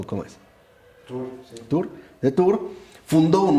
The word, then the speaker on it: Tours: Precisamente cerca de Poitiers, el futuro obispo de Tours, o no sé si se pronuncia Tours o cómo es. Tours, sí.